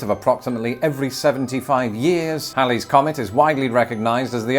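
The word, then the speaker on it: Halley's Comet: so did Lawrence Olivier Hal's Comet which is pronounced Hal's Comet and not Haley's Comet had been recorded numerous times since 240 BC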